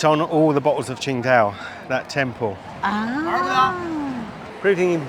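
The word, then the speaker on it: Tsingtao: It's on all the bottles of Ching Dao. That temple. Ah, proving even furthermore, this is the birthplace of Ching Dao, even though it's spelled completely different.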